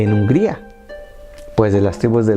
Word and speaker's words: Hungría: Hungría, pronunciada como Ungari, Hungría.